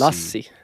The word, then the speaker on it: Lassi: Lassi. No, he said Lassie. It's It's Lassie.